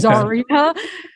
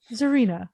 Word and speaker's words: Zarina: Is Czarina or is it Zarina. I Zarina. noticed that a lot of people tend to really overpronounce the czar part, so they say Okay. Czarina. Zarina.